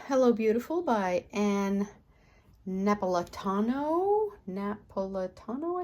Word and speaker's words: Napolitano: Napolitano, I think is how you say it.